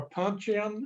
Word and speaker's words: puncheon: the walkway or puncheon, is that the way you pronounce that?